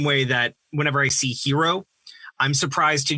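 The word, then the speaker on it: Heero: they do in japanese i is pronounced e it should be hero with one eye with the line on top for us or double i but we have double e in a more western way to create the western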